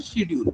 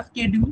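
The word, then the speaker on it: schedule: এবার আছে কি ডিমান্ড শিডিউল বা স্কেডিউল, তোমরা যে যার মতো করে প্রোনাউন্সিয়েশন করতে পারো, শিডিউলও বলতে পারো, স্কেডিউলও বলতে পারো, দুটোই উচ্চারণ ঠিক আছে।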